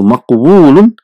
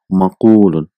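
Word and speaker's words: مقول: So maqwulun will changes into maqulun for the pronunciation ease. So it is difficult to pronounce maqwulun. So instead of that, one waw is dropped and a dhamma is given to fa kalima is maqulun.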